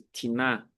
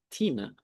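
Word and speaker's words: τίνα: Então, ti, com acento agudo, ou se estiver numa forma oblíqua, com acento agudo na primeira sílaba, ou seja, em vez de tiná, tina, é um pronome interrogativo.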